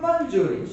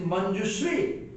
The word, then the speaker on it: Manjushree: She is not Manjuri, she is Manjushree.